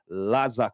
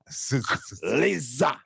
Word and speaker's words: Lazah: By Laza CRA. Liisa. Liza.